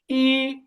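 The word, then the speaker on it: 一: তো এক যেটা, হ্যাঁ, এক হচ্ছে চীনা ভাষায় কি বলে? ই, ফার্স্ট টোনে ই।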